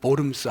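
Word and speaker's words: Worms: 했게 너무 많으니까요 어 우리 영어로는 쓰고 독일 말로는 보름스 한국말로도 보름 씁니다 발음 스페링 그대로나요 독일 발음은 보름 스에 루터가 가면은 죽어요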